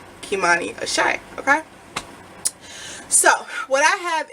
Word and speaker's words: Kimani Ashé: um and it's called kimani ashay okay and i will have the name right here so if you guys ever see that name floating around you know how to say it kimani a shy okay so what i